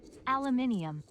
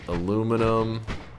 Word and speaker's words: aluminum: Just testing the TTS pronunciation. Aluminium. No, TS, you're wrong. Hold up. Aluminum. I didn't realize TTS was anti-freedom. Aluminum. Aluminum. Aluminum. Good old aluminum. It's pronounced aluminum.